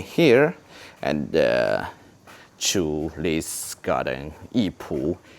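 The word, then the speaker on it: 艺圃: Please memorize this, the Chinese name, Yipu, Yipu, Yipu. Yes, if you memorize the Chinese pronunciation, and you will very easy to find the right answer.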